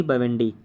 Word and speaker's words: Bawendi: पहला नाम बोल रहा हूँ स्पेलिंग के साथ, मोंगी जी बेवेंडी, अर्थात MOUNGI, मोंगी स्पेस G बेवेंडी, BAWENDI।